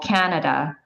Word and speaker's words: Canada: So for example, Canada, the can is stressed, but even though it's A, the two following syllables are still A, they just sound like So Canada.